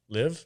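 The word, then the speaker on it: Liev: we have schreiber have live i think it's live i think it's leave like liv tyler it's like it's like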